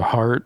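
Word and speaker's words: Hardt: it's called the yeah it's called the heart H his son's name is heart and it's spelled h a r DT uhuh and he wanted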